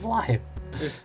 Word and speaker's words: Blaidd: And then here it was called Blade instead of Blythe. That's how people mispronounce his name anyways.